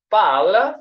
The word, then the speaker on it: parlent: pronunciation, I did mention that the ENT, this one, when it comes to the conjugation of verbs in the third person, then the verb is pronounced the same. It does not bring any effect at all or any change when it comes to the pronunciation.